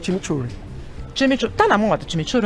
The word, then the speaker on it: chimichurri: O jeito certo de falar é chimichurri, tá.